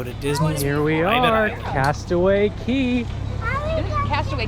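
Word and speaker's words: Castaway Cay: Disney here we are Castaway Key passed away K Castaway spelled k but it's pronounced key it was a really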